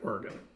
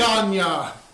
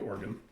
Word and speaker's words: Oregon: So it is pronounced like Oregon, like Whatever. a body- Organya! No, it's like a body part like Oregon.